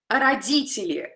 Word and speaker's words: родители: So if I don't pay attention to this Russian, to the Russian pronunciation of this word, I would put it as родители. This is a very common way to pronounce a word with a kind of English accent. So, sound T here. The English version will be T, T.